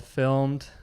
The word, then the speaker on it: Film3d: been watching them develop called Filmed, but spelled like Film3d almost. You could pronounce it either way. Most people call it Film3d.